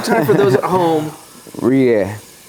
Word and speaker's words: rouille: Roulier. Say it. Roulier. How do you spell it?